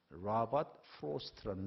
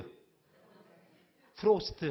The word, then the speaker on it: 로버트 프로스트: 아, 발음이 좀 안 좋지요, 그러면. 자, 로버트. 로버트 프로스트. 프로스트. 아, 이렇게 하면 되지. 로버트 프로스트. 이렇게 돼요.